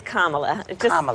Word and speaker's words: Kamala: for me please it's Kamala yeah just think of like a Kama and adala okay we used to